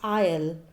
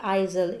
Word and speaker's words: aisle: Children, the pronunciation of this word is I'll. It is not Isle, it is I'll.